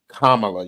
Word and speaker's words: Kamala: grand nieces talking about how to pronounce Kamala you know Kama and then la like la la la la la Robbie but